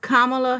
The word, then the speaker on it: Kamala: Okay, so her name is pronounced Kamala Harris.